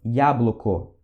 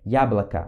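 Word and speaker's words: яблоко: assim de pronúncia né para você não ficar falando diabo loco EA bloco A gente não pronuncia assim tipo a gente a gente pronuncia diabo laca Ok esse esse ok e esse outro aqui também tem som de a Ok então essas pronúncias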